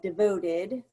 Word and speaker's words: Devoted: the new online marketplace is called devoted that's how you say it but it's actually dvtd and my new website